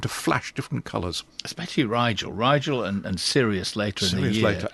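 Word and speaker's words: Rigel: which is which is Riel rhymes with Nigel which is a a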